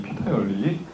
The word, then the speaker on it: 피터: 피터의 원리. 발음 굴리지 마시고 피터의 원리예요.